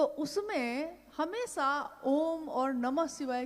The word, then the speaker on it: ओम: अगर एक साथ सुना जाए उसको तो उसकी आवाज गूंजती हुई ऐसी है जैसे हम बोलते हैं या उच्चारण करते हैं तो हम कहते हैं ओम, है वो अ उ म, यानी उत्पत्ति, स्थिति और